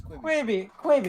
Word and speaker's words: Quibi: I think it was saw the ads Quibbit. like 37,000 times and ignored it. Quibi. Quibi. That's it. It's Quibi.